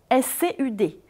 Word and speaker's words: scud: Tout d'abord, on l'écrit scud, S-C-U-D, et on peut le prononcer de deux manières différentes, scud à la française ou scud si on respecte la prononciation de l'anglais.